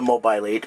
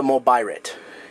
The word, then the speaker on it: Mobirate: probably the proper pronunciation but uh it's not a mobile 8 it's a mobirate if you're going to